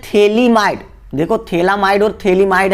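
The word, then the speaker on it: phthalimide: देखो थैलामाइड और थैलीमाइड है, थैलीमाइड THALI थैलीमाइड, ठीक है। पीएच को साइलेंट रखेंगे तो थैलीमाइड बनाता है।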